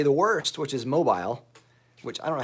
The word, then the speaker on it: Mobile: all the time so I live in Mobile Alabama where the emphasis is on the last syllable but a lot of people say Mobile Alabama which is wrong some people say Mobile which is really wrong and even some people